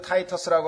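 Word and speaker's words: Titus: 로마의 티토라고 하는 타이터스라고도 하고 로마 말로 티토라고 하고 영어로는 발음을 타이터스라고 하는데 그 타이터스라고 하는 로마의 장군이 와서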